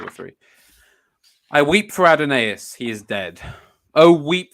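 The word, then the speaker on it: Adonais: source to settle this it's it's and they're pronouncing it adenaeus well there it is adenase so I forgive the excesses of an old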